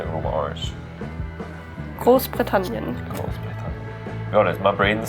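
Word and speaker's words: Großbritannien: love in Scotland but gross britan very good I probably wouldn't roll your RS as much like cross britan cross Branan cross britan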